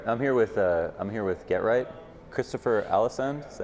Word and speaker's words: Christopher Alesund: All right, I'm here with GeT, Christopher Allisand. Is that how you pronounce it?